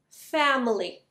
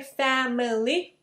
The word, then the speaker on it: family: we have an l family we don't say family it's family two syllables family li li watches really scary horror